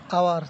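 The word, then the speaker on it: hour: যদি শব্দের শুরুতে ভাওয়েল না থাকলেও যদি ভাওয়েলের উচ্চারণ পাওয়া যায় তখনও কি হবে? অনির্দিষ্ট বোঝাতে এন ব্যবহার হবে। যেমন আওয়ার, তাহলে এর উচ্চারণ কী হবে? এন আওয়ার।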